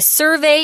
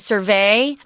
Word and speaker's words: survey: It's not survey. That's a verb. Survey is the noun.